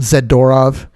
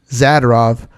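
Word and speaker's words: Zadorov: uh for some reason everybody calls him zedorov which i highly disagree with the pronunciation of his name we don't say fedor fedorov we say fedorov so i figure if we see zadarov it's not zidorov anyways yeah maybe we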